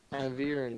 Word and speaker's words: Avirn: Avenir, Avirn. Avirn, It's like Avir with an N at the end.